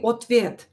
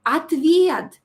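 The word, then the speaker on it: ответ: in the american movies they say otvet why why they do that because it's so easy to teach people to say atv because o is not stress we will pronounce it as a atv and in this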